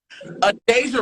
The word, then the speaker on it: Adejah: Adejah, right? Yes, you said it right. One of my ex-best friends, her name is Adejah, so yeah. Yeah. That is literally just Deja with the A.